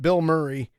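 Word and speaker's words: Bilmuri: 28th and it's by I pronounce it Bill Murray b i l b i l m r i who is actually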